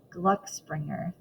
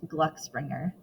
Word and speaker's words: Gluck Springer: go find my bag Glu Springer what my name it's pronounced Gluck Springer long o sound Gluck rhymes with look Gluck Springer perfect well